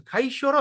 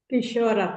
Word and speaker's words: Kishora: Now I'm wondering, to pronounce this, we pronounce Kaishora or Kishora? Kishora, Prabhu. Kishora, huh? Oh, okay. That means I've been pronouncing it all the while wrongly. Kaishoram. This is Kaishoram Purvam. But here we call as Kishoram. Yes, Mataji is doing Sanskrit. Yes. Correct, huh? Kishora. I means we pronounce it E, right?